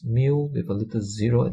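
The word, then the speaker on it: μ: this is also a Greek letter and is pronounced as me so it's mu with a little zero at the bottom now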